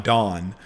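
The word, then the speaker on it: Donne: is john john don it's john dunne i think no it's pronounced john dawn and this is him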